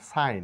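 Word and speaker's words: sign: এই ওয়ার্ড গুলিকে আমরা সিগন না বলে বলবো সাইন এখানে জি সাইলেন্ট রেইন জি সাইলেন্ট এসাইন জি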